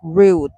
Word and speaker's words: route: Both pronunciations are okay, but I say route like root, lol.